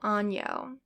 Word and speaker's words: año: The N with the little tilde on the top is pronounced like the sound in onion. So for example, año.